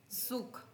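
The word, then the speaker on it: Zug: में हम देखेंगे डेयर सुख डेयर सुख जड को स बोलते हैं हमने पीछे देखा सुख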